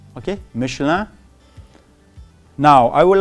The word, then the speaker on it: Michelin: And actually it's a tire company in France, and it is pronounced as Michelin. Okay, Michelin.